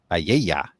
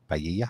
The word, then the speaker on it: paella: Since I couldn't pronounce that, it's pa. Paella. Say it right now. Paella.